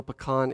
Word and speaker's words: pecan: with ice cream and just say no pecan is the correct way to say that so you've had pecan